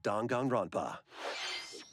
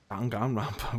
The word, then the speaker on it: Danganronpa: from the creators of Danganronpa. Danganronpa. Why do you say it like that? Welcome to the city. I guess I've only heard it as like Danganronpa, which is probably not at all correct.